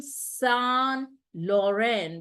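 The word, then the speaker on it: Saint Laurent: forth but the rebranding when it became son Lauren that is St Lauren s sound it became it changed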